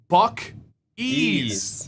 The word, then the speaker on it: Buc-ee's: Give us a word that it rhymes with, right? See, all right. This is Buc-ee's.